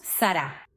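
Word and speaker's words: שרה: Sara hasta hoy en día en hebreo es un nombre muy común y lo pronunciamos Sará y Sará es literalmente ministra.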